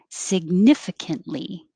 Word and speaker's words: significantly: saturday saturday and 31 significantly significant you won't hear that t and 32 we looked